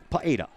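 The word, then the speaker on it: Pugeda: rotation and who ends up with it lauren paeda p-u-g-e-d-a i had to go out and ask the coach how do you pronounce that sends it over and picked up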